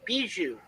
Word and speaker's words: Bijou: resolution um oh yeah that's uh Bijou that's how they pronounce it Bijou Theater all right can